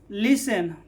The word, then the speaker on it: listen: तब यहाँ पर क्या होगा, टी क्या होगा, साइलेंट। जैसे लिसन, लिसन LISTEN, तो यहाँ पर क्या है, टी